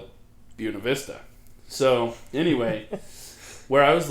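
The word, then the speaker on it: Buena Vista: And yes, I know in Spanish that that would be pronounced Buenav Vista, but in Buuna Vista, all the locals called it Buuna Vista.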